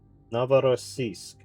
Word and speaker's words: Novorossiysk: Novorossiysk.